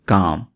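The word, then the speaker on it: calm: यह वाला काम यह इस वर्ड को हम इस तरह से पढ़ेंगे। काम क्योंकि यहां पर आपने एल को साइलेंट रखना है।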